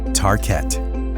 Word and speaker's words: Tarkett: In the 1950s, they launched a new floor covering in vinyl called Tarkett. The name was chosen to rhyme with parkett, the Swedish word for parquet.